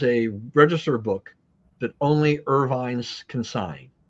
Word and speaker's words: Irvine: So the Irvines, or the Irvins, as they would pronounce it in Scotland, they turned the castle